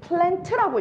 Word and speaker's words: plant: 여러분, 이 plant라고 읽으면 실은 안 돼요. T는 들릴랑 말라.